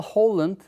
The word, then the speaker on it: Carl Hovland: Yale (Yeıl, üniversite olan gibi okunuyor) Yaklaşımı olarak da bilinen Mesajı Öğrenme Tezi, Carl Hovland (Karl Hovlınd) ve arkadaşları tarafından, etkili propagandaların nasıl yaratılabileceği konusu üzerinde çalışırlarken oluşturulmuştur.